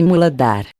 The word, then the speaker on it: Muladhara: Chakra básico ou primeiro centro psíquico, pronúncia-se Muladhara.